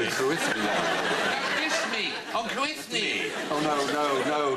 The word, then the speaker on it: Cruithne: Cruithne is pronounced Cruinia, and it's actually Celtic, and its orbit was discovered in 1997.